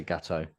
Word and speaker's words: Gatto: Melissa Gatto. It's Gatto. Like there was going to be a different saying to it. That's it. Gatto. I think the Americans say Gatto, but Gatto.